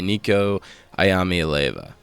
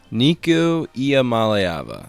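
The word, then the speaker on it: Nico Iamaleava: Now, looking ahead at the UCLA roster, they are led by Niko Ayami Alva. Oh my god, that's the worst pronunciation of all time. Nikua Mallayava. Oh my god, there it is.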